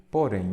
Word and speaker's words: porém: você separa em sílabas porém então ela é o que oxítona terminada em então a primeira palavra